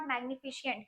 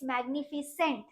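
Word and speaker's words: magnificent: देखो प्रोनाउंसिएशन भी मैं क्या बोल रही हूँ, इट्स नॉट मैग्निफिशिएंट, इट्स मैग्निफिसेंट, CENT will be the correct structure.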